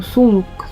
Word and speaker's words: Cthulhu: Todo mundo erra, porque o próprio Lovecraft falou que a boca humana não é feita pra pronunciar isso. Ele mesmo pronunciava algo como Sulu, algo assim.